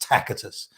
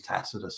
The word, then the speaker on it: Tacitus: thousands of years ago the C was pronounced as a hard C or a k if you like so would have been pronounced tacitus I used more modern